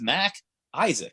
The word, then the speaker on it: MacIsaac: they'll be like uh is mr mckissick there i'm like can you read like it literally says mac isaac like how hard is